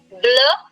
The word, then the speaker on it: bleu: Now the pronunciation will be same for all. But see the spelling keeps changing. Bleu, bleu, bleu, and bleu.